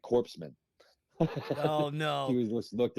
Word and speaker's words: corpsman: for those listening it's because Corman is spelled c o r PS m cor like the Marine corpse right so I'm like yeah corpsman I'm like what's that